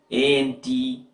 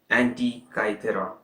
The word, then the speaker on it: Antikythera: So first I will spell it out for you. It is Antikythera, Antikythera, if I'm not wrong.